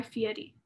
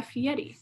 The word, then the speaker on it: Fieri: Guy Fieri, his name's actually pronounced to rhyme with confetti. So like Guy Fieri. Isn't that the most insane thing? Confetti? Yeah, like Guy Fieri.